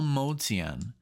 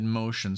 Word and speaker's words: Motian: small motion okay so Paul motian I said motion so I apologize Paul Paul motian is